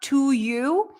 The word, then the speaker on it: to: it by the way even though the to is fully pronounced it's not to you but it's to you it's still awat when the two is pronounced before a consonant like in the phrase to you or to go or to love then the u sound becomes awam to you to you to